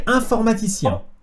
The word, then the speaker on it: informaticien: Je suis informaticien. Je suis informaticien. Wait, how do you pronounce it again?